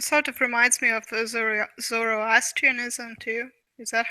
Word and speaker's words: Zoroastrianism: And, It's and sort of reminds me of Zoroastrianism too. Is that how you Mhm.